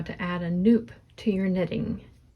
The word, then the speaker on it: nupp: how to add a Nupp to your knitting. Nupp is spelled N-U-P-P, and it rhymes with soup, so that's how you can remember how to say it.